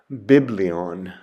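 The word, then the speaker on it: βιβλίον: the word for book or scroll and it's pronounced biblion biblion the next letter is gamma and Gamma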